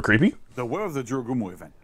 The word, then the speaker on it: Jorogumo: Jorogumo.